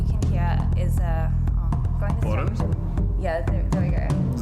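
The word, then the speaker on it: bodhrán: hear is going to Boron? Yeah, there we go. Is that how you pronounce it? Boron? The Irish frame drum? Yeah. Boron. So. It's there's a D in there, but I think it's silent.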